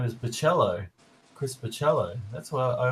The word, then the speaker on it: Bachalo: I thought it was Bachalo. Well, because that's another thing. Comics, you only see the name, but you never actually hear it aloud. So it's Bachelo. So I think Bach, the composer, Bachalo.